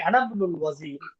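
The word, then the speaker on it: أنا ابن الوزير: আচ্ছা, হ্যাঁ, এই যে ইবনুর হামজাটা আমরা উচ্চারণ করিনি, আনা ইবনুল ওয়াজিরি।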